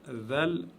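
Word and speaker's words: ذال: Zel, c'est un genre de D et Z mélangés qui se prononce avec la langue derrière les dents du haut de devant.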